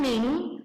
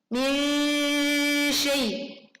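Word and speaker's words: مِنْ شَيْءٍ: Bukan min, tetapi min syai. Min syai.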